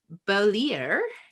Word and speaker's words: Beaulieu: So for those of people who don't know Murray, Beaulieu is how you pronounce his name.